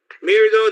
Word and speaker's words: MIRDO: created a system called mirdo mir though that rhymes with we're do it's weird what you